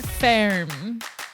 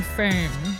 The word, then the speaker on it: Ferme: La Vie Ferme. Fair. It was like literally just pronounced it like fair with an M at the end, but it's spelled F-E-R-M-E.